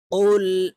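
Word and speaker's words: قُلْ: পেশ কুল আমরা অনেকে কুল বলে থাকি কুল বলতে হবে কুল জিহ্বার গোড়া তার বরাবর উপরের তালুর সঙ্গে লাগাইয়া কফ হরফ উচ্চারণ করতে হবে কফ লাম পেশ কুল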